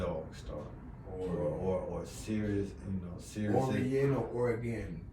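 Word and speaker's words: Sirius: cover that you know they say start serious and serious s-i-r-i-u-s serious yeah serious i mean that's our pronunciation they probably pronounce it series however they pronounce it serious that's how i pronounce it because she's serious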